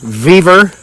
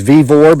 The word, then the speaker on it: Vevor: The vertically challenged people who live under bridges tell me I say it wrong. They say it's Vivore, but I made this company millions of dollars in the last couple years, so they don't care how I say it.